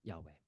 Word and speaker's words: Yahweh: name for God is spelled with the letters yod V and that would be pronounced um Yahweh yah or the sound